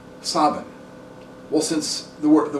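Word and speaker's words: Samhain: the city of sin s a m h a i n or pronounced in M galic Savin well since the word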